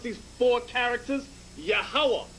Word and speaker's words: Yahawah: pronounce these four characters yahawah a three-syllable sound you connect the last two characters connect the last two